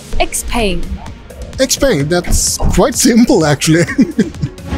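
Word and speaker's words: XPENG: actually pronounce the name we call it x-pain explained that's quite simple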